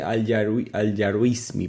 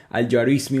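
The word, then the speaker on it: Al-Juarismi: Conoce Aljar Yaruismi, perdón que me cuesta pronunciar los nombres a veces. Al Yarismi, un matemático que fundó el Gebra.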